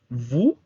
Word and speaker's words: vous: Vous significa ustedes, pero también significa usted. Al igual que en el caso de nous, o u se pronuncia u y la s es muda.